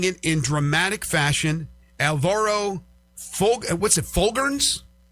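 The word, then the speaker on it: Folgueiras: Alvaro Fulgerns? How do you pronounce his last name? Fulgaris.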